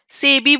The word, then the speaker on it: SEBI: Very good Avani, सेबी बोलते हैं ना, यस। So that's why सेबी is acronym, जब हम शॉर्ट फॉर्म को वर्ड की तरह प्रोनाउंस करते हैं।